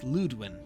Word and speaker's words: Ludwin: Ue and U with the dots create both long oo sounds, as in loop, which is why it's Ludwin.